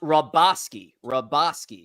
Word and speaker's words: Hrabosky: It's pronounced Hrabosky.